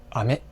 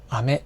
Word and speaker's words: 飴: 例えば、雨と飴という単語があります。